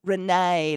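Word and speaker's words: Renée: If it's acute, it makes it a stress vowel noise like the A in play. If it's a grave, it modifies the vowel to be more like an eh sound. So it's got to be the first one then, because it's Renee. A like in play, Renee like in play.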